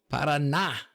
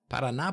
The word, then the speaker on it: Paraná: Paraná. I said it right, didn't I? Paraná, Brasil.